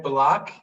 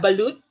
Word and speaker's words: balut: Okay, we have another online user who has tried balak. Am I saying it right? And What? the fertilized duck egg. Yeah, balut. Balut, and says it's an acquired taste.